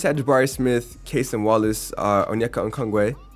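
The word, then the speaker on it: Onyeka Okongwu: Warriors had Jabari Smith, Kaysen Wallace, Onyeka Okongwe. You like that? You like how I pronounced that correctly? I did my research.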